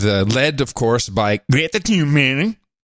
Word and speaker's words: Thunberg: Yes, the school strike with led, of course, by Greta Thunberg. That's the official. Thunberg. This is how Amy pronounces it. I'm keeping it to the pros. Greta Thunberg. That's how she pronounces it.